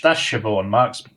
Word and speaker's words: Siobhan: That's Siobhan.